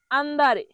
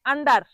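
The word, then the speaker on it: andare: পরের শব্দটি হল আন্দারে। আন্দারে অর্থ যাওয়া। আন্দারে অর্থ কি? যাওয়া। অনেকে ভুল উচ্চারণ করে। আন্ডার। আন্ডার। কিন্তু আন্ডার বলা যাবে না। বলতে হবে আন্দারে।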